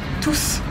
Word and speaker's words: tous: d'un pronom pluriel masculin on prononce le s tous toutes sont différentes tout